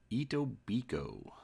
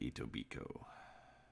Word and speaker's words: Etobicoke: of High Park in Etobicoke so as you can see here the K is silent actually reached out to